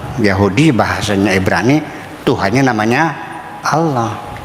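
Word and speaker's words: الله: bahasanya Ibrani, Tuhannya namanya Allah. Dan hamzahnya dibaca A ya, jangan O ya.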